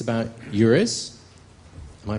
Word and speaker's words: EURES: Here, it's about eures. Am I pronouncing that correctly?